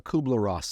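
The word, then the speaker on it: Kübler-Ross: Uh Kubler Ross.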